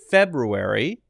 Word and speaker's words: February: to pronounce this one one is to make sure to say the r sound clearly and the other is